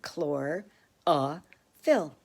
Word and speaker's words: chlorophyll: that is we get to see how to pronounce it chlor ah fill chlorophyll helps the leaves take in light from